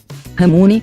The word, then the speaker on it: ramune: Esse Ramune nada mais é que a pronúncia errada dos japoneses para lemonade em inglês.